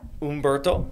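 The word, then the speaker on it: Humberto: So, yeah, Ombberto, which I guess that's how you properly pronounce it.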